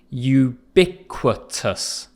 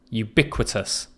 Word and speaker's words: ubiquitous: the next word is ubiquitous pronunciation is tricky with this one ubiquitous ubiquitous and this is used